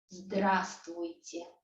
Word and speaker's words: Здравствуйте: But in fact, there are so many consonants that we just omit this v in the middle. We just don't say it. We say здравствуйте.